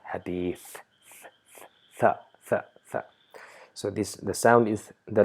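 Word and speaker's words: حديث: It's neither hadith, it's nor hadith, it's hadith, mixture of both, where the tip of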